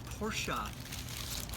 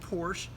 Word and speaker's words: Porsche: word for the day is porsa and yes that is the proper way to pronounce that word that name pora it's not Porsche porsa you know why I'm